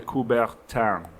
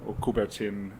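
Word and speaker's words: Coubertin: movement his name was Pierre de kuberan so kutin if you pronounce it angelized Pier de kuberan was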